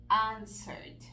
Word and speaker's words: answered: vamos a hacer esto la letra de muda worked answered Entonces fíjense como la letra e es muda por ahí esa es